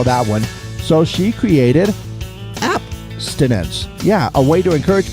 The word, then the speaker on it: Appstinence: right well let's talk abstinence no no no no no no no I'm not saying it wrong it is app as in those applications on our phone and everything see apparently